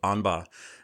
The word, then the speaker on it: Aughinbaugh: Most people do mess up the last name, but my name is Aughinbaugh, and I do work with the wonderful Dr.